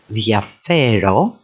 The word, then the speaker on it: διαφέρω: Then we can actually put the emphasis on the second syllable from the end, διαφέρω, and then finally διαφορά takes the emphasis on the final syllable.